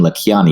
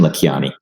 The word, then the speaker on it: Lakhiani: is vishen le kyani the name has an american pronunciation but americans teams seem to think it has an indian pronunciation so they over emphasize it like it's an indian uh name but it isn't it's really vishn la kyani it's not vishan lakhiani it's vishen la kyani thank you okay i'm